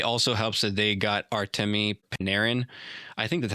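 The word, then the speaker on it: Artemi Panarin: they were playing extremely good hockey and it also helps that they got Artame Paneran. I think that's how you say his name. Artame Paneran.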